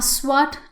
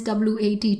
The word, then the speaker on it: SWAT: front of that a swat team you will never hear anybody say as w80 team but they will say swat team so in those kind